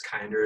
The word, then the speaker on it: Kinder: and so we're like we're fine if people mispronounce it at first and then we can teach them that it's kinder as they start to